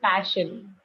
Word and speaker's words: passion: You use a nice word, passion, but it has a a sound, so it is passion.